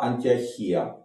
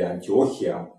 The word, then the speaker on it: Антиохия: в Сирии тогдашний это антиохия или антиохия по-разному ударение Ну там дальше такие события